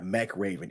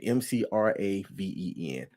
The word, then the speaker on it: McRaven: Yeah, McRaven, McRaven.